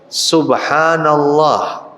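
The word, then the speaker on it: سبحان الله: termasuk diantaranya bacaan tasbih tasbih itu bacanya Bagaimana subhanallah subhanallah subhanallah bukan Subhana ar-rahman tapi Subhanallah Hai diantaranya juga adalah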